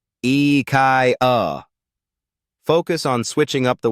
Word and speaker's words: IKEA: like a true Enthusiast you might say IIA but it's actually pronounced the Swedish way eai focus on Switching up